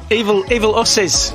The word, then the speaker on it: Evil Usses: Evil Usses. Evil Usses. Like in Bill and Ted.